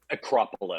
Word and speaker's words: Acropolis: Technically, though, one thing that is clear: Runes of Roye is connected to Cyclopean Arcopolis, so you could move there. Acropolis. Acropolis, yes. Sorry, I should know how to pronounce that.